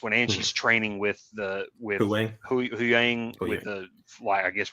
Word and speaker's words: Huyang: And I like how the great thing I like about that with God, I always forget how to pronounce him. Huyang? Huyang, yeah.